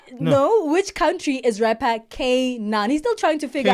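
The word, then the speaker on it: K'naan: Kan. Not K9.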